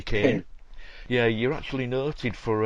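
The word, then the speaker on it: Kean: is it leslie kane leslie we always pronounce it keen but leslie kane yeah you're actually noted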